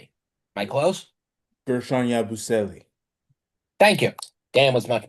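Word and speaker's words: Guerschon Yabusele: I mean, the highest on from the bench is the one guy's name I can barely pronounce these days, Gershon Yababustiele. Am I close? Gershon Yabusele.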